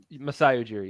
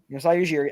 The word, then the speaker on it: Masai Ujiri: I think Ujiri, is that how you say it? Ujiri? Masai Ujiri. Yep. Masai Ujiri.